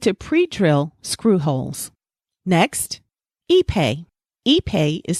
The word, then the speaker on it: Ipe: Next, Ipe. Ipe is spelled I-P-E.